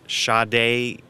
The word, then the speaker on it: Sade: a cdc in excess shaday is kind of pronounced Sade really if you were like looking at it that way so we help the